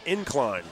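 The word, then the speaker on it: Ynclan: y n c l a an but it's pronounced incline that's one way to keep it up all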